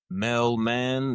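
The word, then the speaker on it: Mellmann: For myself, it's Mellman. That's spelled MELL.MANN.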